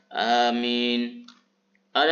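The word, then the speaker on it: آمين: Ada indal ulama'i, menurut pendapat ulama adalah lafaz amina. Bagaimana cara membacanya? Bil maddi, hamzahnya dibaca panjang, bitakhfifil mimi, dan tidak membaca mimnya dengan tasydid, dengan syiddah. Berarti bacaan yang pertama yang kuat riwayatnya adalah amin.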